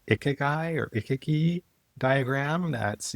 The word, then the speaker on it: ikigai: I think it's pronounced ikigai or ikiki diagram.